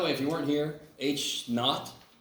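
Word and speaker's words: H₀: if you weren't here H not is how you say this H KN it's it's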